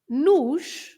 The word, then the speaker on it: nos: an accent, and so you pronounce the o at the end is always pronounced like u, and in this case is the plural. It takes an s, so you just say another s, nos, the sh at the end of the s.